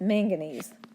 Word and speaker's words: manganese: this is main manganese manganese and magnesium are not the same thing I'm not saying it wrong it's manganese there is a magnesium